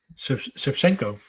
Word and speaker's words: Shevchenko: Funny enough, when me and at the game, the announcer was calling it how do you call it, Christian? Shevchenko. With the Shevchenko, the proper way to say it.